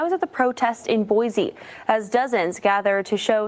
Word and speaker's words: Boise: Guys, here's Boise. This one's Boise. Boise, Idaho. You guys helped me with the pronunciation for this one.